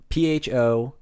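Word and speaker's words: phở: And they want to name it PHO Keen Great. And if you don't know how PHO is pronounced in whatever, I forget if it's Korean or it's Vietnamese, I promise.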